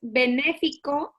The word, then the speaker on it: benéfico: Claro, la primera fase es benéfico, acento en la segunda E, guión asistencial.